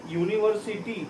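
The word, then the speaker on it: university: का इस्तेमाल करेंगे क्योंकि इसका जो प्रोनाउंसिएशन होता है वो क्या होता है, यू या वाई, यू, यूनिवर्सिटी, तो वाई पहले आ जाता है।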